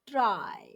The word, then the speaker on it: trie: and child noes try a tri pronounced try is a tree like